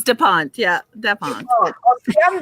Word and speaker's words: Da Ponte: Oh, God, did I pronounce this right? You just told me. Da Ponte, right? It's Da Ponte, yeah, Da Ponte.